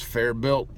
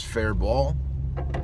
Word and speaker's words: Faribault: one of them is I thought it was fair belt but it's fair ball like the T is silent and I don't know